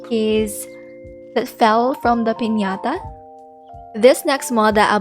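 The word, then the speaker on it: piñata: is pandesama's pinata so i hope i pronounced that correctly because it's how we pronounce it in the philippines pinata yes and he's just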